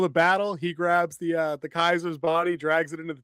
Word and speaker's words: Caesar: Kaiser. Spelled like Caesar.